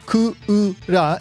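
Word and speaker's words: クウラ: Kozo Morishita puts it, somebody proposed that Kura, Ku-u-ra in Japanese, should be this character's name. This is a name based on the Japanese word kura. Kura with the long a vowel at the end means air conditioner.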